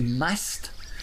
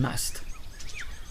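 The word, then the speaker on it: musth: because they're going into must. Must is actually an Indian word meaning arousal, and you spell it M-U-S-T-H.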